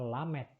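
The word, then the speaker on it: ל: Satu huruf dengan dua pronunciation ya. Dua bunyi dia. Kemudian huruf berikutnya adalah lamet.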